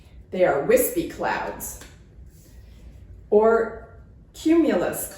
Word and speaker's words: cumulus: Or cumulus clouds with a hard C sound.